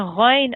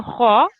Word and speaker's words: غ: So I heard you pronouncing it a little bit like a kha. So it can be mispronounced by that. A lot of people do that. But it's a kha, a gha, and it's one of the thick letters.